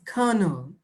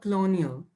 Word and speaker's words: colonel: me colonial my child it is kano not colonial oh no kana well